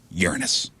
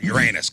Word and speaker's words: Uranus: Saturn Jupiter Neptune and Uranus cuz I'm not going to stoop down to call Uranus cuz that's not how you say it mhm okay I'm going